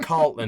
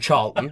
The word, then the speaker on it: Charlton: I called him Carlton instead of Charlton. You know what I mean? Got his name wrong, and like.